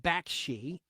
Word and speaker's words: Bakshi: sad then you had heavy traffic by Ralph Baki by the way his name is pronounced Baki and it's spelled b a k Shi released